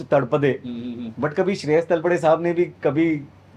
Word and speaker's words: Talpade: लेकिन तलपड़े, Yeah. Which is actually pronounced तड़पदे, Mm-hmm.